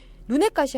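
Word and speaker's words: 눈엣가시: 그리고 얘네들이 쓰이면 눈하고 가시하고 이렇게 결합이 된 건데 얘가 지금 어떻게 소리 날까요? 그렇죠? 된 소리로 발음이 됩니다.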